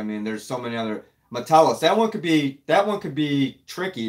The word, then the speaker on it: Metellus: So I mean, I've heard people say it Metellus. It's not Metellus. The emphasis. They put the emphasis on the wrong syllable. It's Metellus.